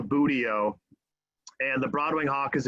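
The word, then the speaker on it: buteo: hawks from cooper's hawks these are the booty-o's and that is that is how you pronounce that word it's a very goofy word in the in bird circles uh it's called a budio and the broadway hawk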